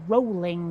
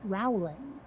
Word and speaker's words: Rowling: who don't quite realize her name is pronounced jk rowling not rowling you know in